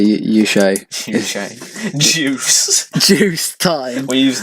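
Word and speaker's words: Juche: Juice is a lot of other things. It's like juice. Please pronounce it properly. Sorry, Yushay.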